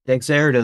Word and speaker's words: Dexerto: Dexerto, that's how you pronounce it, guys.